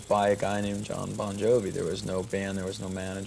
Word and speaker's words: Bon Jovi: bonjour no it's pronounced bon jovi it's just the the phonetics in italian the gi is a j sound right so you're off